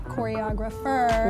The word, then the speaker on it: ChoreograpHER: You have this exciting program, Choreographer. Yes. Am I pronouncing it right?